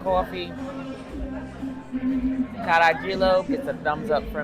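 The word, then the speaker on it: carajillo: I assume maybe it was Spanish, because in Spanish they don't pronounce the J. The J is pronounced almost like an H, but it's Caragilo is what he said this is.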